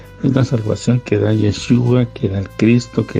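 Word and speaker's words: ישוע: nombre que él tiene su nombre hebreo es un nombre que más o menos se pronuncia yeshua o yashua algunos como lo pronuncian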